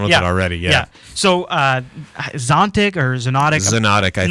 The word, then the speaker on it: Xonotic: It's not actually available for download yet, but it's Zontic, or how do you think you pronounce that? Xonotic. Xonotic.